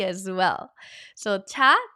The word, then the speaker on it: 차: Say 차, 차. There you go. I know in Mandarin Chinese we say cha or tea as well. So 차, 차, 차. I love tea. 차 좋아해요. But 차 has a second meaning.